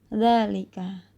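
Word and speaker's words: ذلك: Fathah tegak pada huruf pertama dari hadza, hadhi, dan dzalika dibaca panjang. Simbol ini hanya terdapat dalam beberapa kata umum dan biasanya tidak ditulis. Pelafalannya hadza, hadhi, dzalika.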